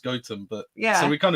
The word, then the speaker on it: Gotham: we live near a village it's spelt Gotham, but it's pronounced Gotham. But yeah, so we kind of live near Gotham, I guess, as well.